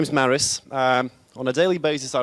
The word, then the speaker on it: Māris: badly i suppose you will tell how to pronounce it correctly yes i will do hi my name is maris on a daily basis i run an e-commerce